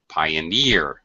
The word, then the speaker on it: pioneer: uh referee pioneer okay actually the primary stress is on the e sound referee pioneer 17 doesn't always work